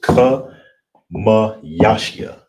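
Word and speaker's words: חמישי: Fifth, and how you would say it is kamayashyah. Kamayashyah, all right? That's how you say fifth.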